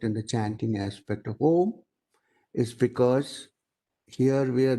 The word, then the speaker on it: Om: The second starts with O, A and U together, becoming O. And lot of stress is laid on the last syllable, Ma. Om.